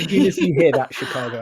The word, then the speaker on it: Chicago: to say it is the chicken in the car the car won't go that's how you say Chicago but like if you